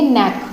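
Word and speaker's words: knack: हम यहां पर देखेंगे नैक ठीक है नेट क्या होता है आदत होता है तो के साइलेंट हो गया हम ने क्या बोला नैक तो नेक्स्ट तो नहीं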